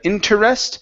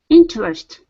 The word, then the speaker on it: interest: interest okay so uh we're going to take this from three syllables to two so instead of interest it's in interest interest okay very good and